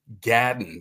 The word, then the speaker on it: gadden: It's about the Gullah Geechee Gadden. That's the way Gullah people would pronounce garden.